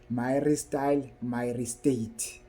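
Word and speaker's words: myristyl myristate: sunen product it will have it will be my style myate it's my style myate let me spell it for you guys it's m y r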